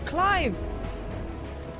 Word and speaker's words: Clive: one Jill it's me Clive it rhymes with chive remember what the hell